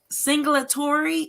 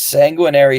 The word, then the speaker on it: Sanguinary: And you have to put that title in the comment section because that word singulatory, is that how you say it? So it's Sanguinary Song, Sanguinary Song.